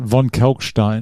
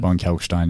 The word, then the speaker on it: Von Kalckstein: I was going to ask you how to pronounce it. Von Kalckstein. Von Kalckstein, yeah. Many people get that wrong.